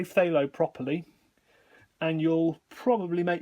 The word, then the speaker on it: phthalo: it's actually pronounced phthalo so it's an f and then a th very close together phthalo it's almost like the